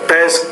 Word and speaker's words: test: sheet which matches the test questions in her class okay the one here is the word test believe it or not you didn't really pronounce ounce that t with enough air so test questions test